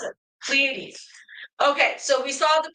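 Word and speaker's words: Pleiades: And um Rhonda says Plleades. Oh, that's how you pronounce it. Plleades.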